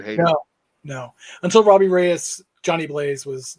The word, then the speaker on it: Reyes: Reyes.